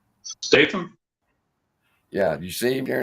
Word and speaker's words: Statham: you say his name jason stratham you look kind of like him statham yeah you see him